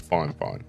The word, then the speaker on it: FiFine: the am8 mic from fine fine it's a weird spelling but apparently I have been told it's pronounced fine fine I've listened to the